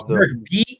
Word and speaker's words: Bierk: Is it Burke? It's Burke. Bierk is how it's spelled.